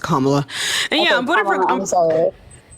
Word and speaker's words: Kamala: for voting for Kamala is it's Kamala it's pronounced kamla and yeah I'm voting for okay yeah so I'm voting for kamla Harris for like a bunch of reasons uh